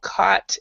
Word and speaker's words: caught: we've got through though caught and and cough the first three the GH you do not pronounce at all so when you have